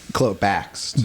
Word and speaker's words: Bakst: Is it Dan Bakst? Is that how you say it? Bakst. Bakst. K Dan, before the like S.